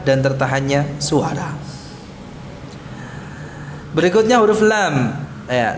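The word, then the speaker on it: ل: Berikutnya huruf lam. Ya, lam ini kita ucapkan tidak sama dengan L. Mirip ya, mirip dengan huruf L ya. Lam itu mirip dengan huruf L dalam pengucapannya.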